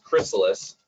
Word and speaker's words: Chrysalis: And some people might be trying to figure out how to pronounce our name. Is it Chrysalis or Chrysalis or Chrysalis? It's Chrysalis.